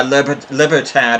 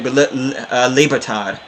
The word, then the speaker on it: Libertad: A calamitous error by Libertad on the back. Or should I say Libertad, if you want to pronounce it correctly.